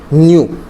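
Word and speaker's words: ν: Frequency is denoted by न्यू, ये V नहीं है, ठीक है, वी तो कुछ इस टाइप से होता है ना, ये थोड़ा सा ऐसे टेढ़ा है, क्या प्रोनाउंस करोगे, न्यू, एन यू।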